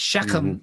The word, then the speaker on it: Shechem: And Shechem is also a guttural.